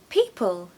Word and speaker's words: people: definitely makes the world go around number eight people people this was a strange one for me